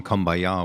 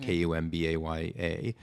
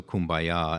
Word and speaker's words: Kumbaya: Kumbayah, or sometimes just Kumbaya. So Kumbaya, and then people started to pronounce it Kumbaya because they saw the spelling.